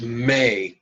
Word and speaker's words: me: But we pronounce this syllable may just like the month, or just like the request, Mother may I.